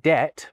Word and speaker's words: debt: aware of them, they started to spell debt with a B.